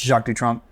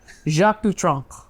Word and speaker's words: Jacques Dutronc: Henry's much better pronouncing French. Jacques Dutronc. Jacques Dutronc.